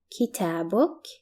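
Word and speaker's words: كتابك: book your book and it's pronounced in Arabic as kitabok Kita book can you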